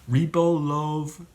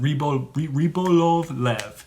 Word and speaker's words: Rybolovlev: the Russian oligarch Dmitry, I hate this name, Rybolovlev. That's actually how you pronounce it. Well, and if you're not good at it, but that's it. Rybolovlev, who purchased the painting through a Swiss intermediary,